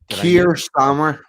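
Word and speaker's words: Keir Starmer: Ky Kir what is it you there Kier Starmer Kier Starmer thank you yeah political activist who propelled Kier sir Kier Starmer to the office of prime minister went on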